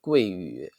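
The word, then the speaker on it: 贵屿: The name in Chinese is Guiyu. It means precious island, but the pronunciation in Chinese actually is the same with Silicon Mm.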